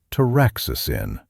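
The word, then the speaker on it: taraxacin: What makes dandelion interesting is a bitter compound called traicin, pronounced traicin.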